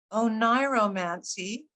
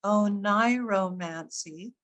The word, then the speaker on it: oniromancy: Oniromancy, as it's pronounced, oniromancy, or the art of foretelling the future through